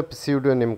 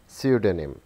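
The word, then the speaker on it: pseudonym: इस वर्ड को अक्सर प्स्यूडोनिम कहा जाता है, इसमें ख्याल रखा जाएगा कि P साइलेंट है। सो the correct pronunciation is स्यूडोनिम, स्यूडोनिम, स्यूडोनिम।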